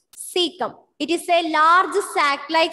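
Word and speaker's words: caecum: So some of them have a tendency to pronounce it ka and all, but it is not ka, it is cecum.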